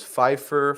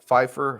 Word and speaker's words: Phifer: Pfeiffer Football, all one word. It's like Michelle Pfeiffer, the actress. Right? She spells it differently, but yes, pronounced the same.